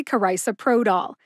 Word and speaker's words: carisoprodol: being frustrated by not knowing how it's actually pronounced you got this thanks for joining me today to learn how to say karisa Pro doll to find the show notes for this episode